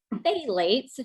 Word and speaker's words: phthalates: gonna pronounce it again lates the pee is kind of silent but if you want to look it up it actually starts with a pH T but say late that